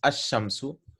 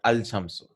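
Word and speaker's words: الشَّمْسُ: The letter Lam is not pronounced. So this letter Lam is not pronounced, right? Is not pronounced at all. The correct pronunciation is Ash-Shamsu, not Al-Shamsu.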